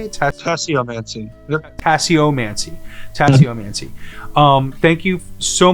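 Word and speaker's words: tasseomancy: Tasse-O-Mancy.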